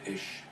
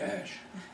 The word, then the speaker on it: Esch: So we actually compromised on Ish, E-S-C-H. E-S-C-H. Mhm. So we just left the W-E-G-E off. And soon enough, I found out that nobody pronounced Ash. They all called me Ash.